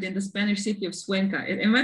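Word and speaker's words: Cuenca: leaders who gathered in the spanish city of suenca am i pronouncing it well suenka yes and the end of 2019 and you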